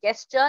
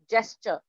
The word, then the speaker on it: gesture: It's not gesture. It's gesture. Okay. Attracting someone's attention by a hand gesture. Gesture. Not gay. Not girl for gun. Jur for jug.